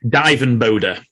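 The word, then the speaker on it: Dirk van Duijvenbode: I think Dirk van Duivenboyd, I think it's pronounced something Who's like... a Dweeb? Divenbode. Divenbode. There you go, Divenbode.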